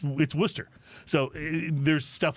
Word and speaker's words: Worcester: But it is not pronounced Worcester. It's Worcester.